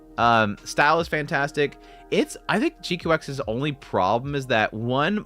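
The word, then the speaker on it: GQuuuuuuX: G-Cox. Quacks is fine though. I do like the Quacks thing. I think the Quack kind of is kind of funny. Jikuaksu. No, guys, it's GQX. Is how you pronounce it.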